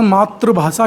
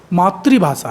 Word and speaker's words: मातृभाषा: जो हम देखते हैं हिंदी का उच्चारण मातृभाषा के रूप में करते हैं जबकि सही उच्चारण मातृभाषा है यह शब्द ही अपने